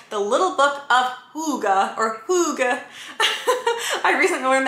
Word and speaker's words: hygge: and this is called the little book of hygge or hygge i recently learned that you pronounce it hygge so now i keep saying it like that